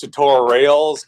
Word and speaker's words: TutoRails: It's pronounced TutoRails because it's Ruby on Rails.